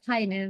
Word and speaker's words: Peine: It's Peine, but it's German, so of course, like how would you know how to pronounce it in German?